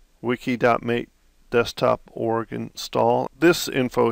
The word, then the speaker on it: mate: the bottom and it says the name mate pronounced mate comes from the Yerba mate a species of